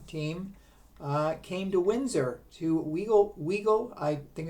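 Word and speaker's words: Wigle: From Detroit, the Detroit Colored team came to Windsor, to Weagle, I think it's pronounced W-I-G-L-E Park, and they performed before packed houses of people.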